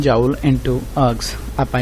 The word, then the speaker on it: erg: जिहड़ा अर्ग्स हैगे ने, अर्ग एक ERG अर्ग बोलते हैं, इहनूं अर्ग बोलते हैं, आर जिहड़ी है साइलेंट हो जाती।